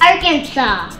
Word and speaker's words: Arkansas: do you see it Arkansas oh we don't say the S that's interesting it's like saying applesauce but with no s applesauce okay can you